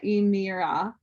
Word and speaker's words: Aymara: He called them the Aymara, elongating the name as if his pronunciation of it was the only accurate one in existence.